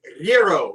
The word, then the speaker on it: gyro: in all actuality it's gyro you got to let the r g is silent and you got to let the r roll today we're making gyros